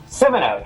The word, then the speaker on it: Simoneau: how do you say your last name Simo Simo oh cool is a business